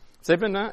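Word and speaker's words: Thévenin: Don't forget the accent on the E. Okay. So Thevenin equivalent. Thevenin, it would be the right way to say it, but I guess here you say whatever.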